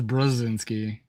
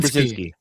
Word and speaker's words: Brzezinski: Uh He says Brzezinski. But look how it's spelled. Just say it quickly. Rob Brzezinski. Brzezinski.